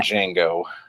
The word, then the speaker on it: Django: character and when D Jango says it's Jango with the yeah the D is silent he says yes I